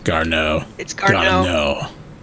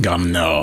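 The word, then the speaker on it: Garneau: let's try that again I pronounce it as gar near gardenia I think if you put that card now gar know but you have to put on the French accent gum now and then it sounds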